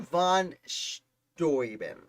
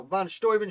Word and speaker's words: von Steuben: find him number 29 baron von storben i believe it's pronounced now von storman shows up a little